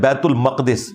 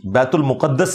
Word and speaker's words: बैतुल मक़दिस: ये लफ्ज़ है बैतुल मक़दिस, बैतुल मुक़द्दस लफ्ज़ नहीं है, बैतुल मक़दिस इसकी ट्रू प्रोनाउंसिएशन है।